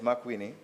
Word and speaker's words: McWhitney: So if you would listen, Kingston Central, Wagonette Crescent, McWhitney Street, if that's the proper pronunciation. Yes, McWhitney.